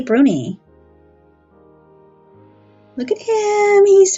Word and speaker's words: brownie: are honorable and organized brunies are Shaggy ugly little dwarves their name is properly pronounced Bruni not brownie however they are traditionally